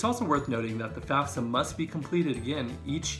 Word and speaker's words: FAFSA: For grants and student loans, however, there's an important application called the FAFSA. Now, for whatever reason, it's our tendency to say FAFSA. Don't do that, that's not correct. It's FAFSA.